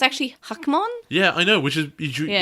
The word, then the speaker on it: Hackmon: thing that sticks to it well it's actually hakmon yeah i know which is not how you pronounced it yeah i think it would have